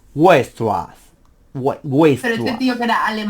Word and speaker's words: Weierstrass: Sí, no, es que se pronuncia súper raro, es Weierstrass.